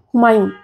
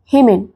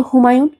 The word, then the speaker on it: হুমায়ুন: বলল না আমি বললাম এসো আমার সঙ্গে চেষ্টা করো বলো হুমায়ুন গ্লাস বলল হেমেন আমি বললাম হলো না আবার বলো হুমায়ুন হুমায়ুন গ্লাস বলল মায়ান